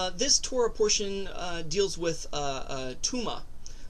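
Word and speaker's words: טומאה: Now, this Torah portion deals with Tuma. Not like, Kindergarten Cop, where Arnold Schwarzenegger goes, "It's not a tuma," but it's pronounced the same way.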